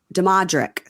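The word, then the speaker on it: Damodrick: No, so there's no N. D-A-M-O. Demodrick. Demodrick.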